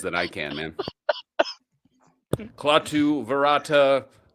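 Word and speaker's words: Klaatu barada nikto: That's just Clatu Vera Nikto. No, you said it wrong, sir. There's claw at this. Yeah, you can get a lot closer to what he says than I can, man. Clatu verata.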